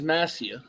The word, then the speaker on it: Massia: He said You said it's Massia. Hup and what? Massia. Massia. Massia. Not Massia. Messiah. S-I-A. The I sounds like an E.